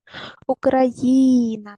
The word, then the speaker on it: Україна: у на це сплати поставте наголос Україна на букву ї на третій склад поставили Побудуйте звукову модель слова